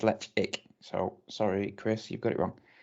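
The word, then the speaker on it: Ledaig: from isle of mall distillery toba mori lechig pronounced lech egg no on there this on their website says let's ick so sorry chris you've got it wrong is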